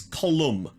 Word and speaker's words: Colin: But Colin Murphy, yet again. And by the way, I've seen some people asking me if it's pronounced Colin. Column. No, people keep... I'm not saying Colin, it's Column.